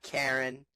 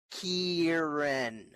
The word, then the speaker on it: Kieran: watch and yes Derek my name is Kieran not Karen not Karen Kieran learn how to say it just in case you're